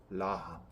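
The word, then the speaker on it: רחם: 뜻하는 라함이라는 단어하고 유사합니다 발음이 나함 라함 유사하잖아요 그래서이 저자가 뉘우침 나함이라는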